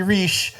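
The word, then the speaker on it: Reich: is Rob re uh not Robert R although it's spelled the same way um he goes by Rob and says call me re that way you don't confuse me with the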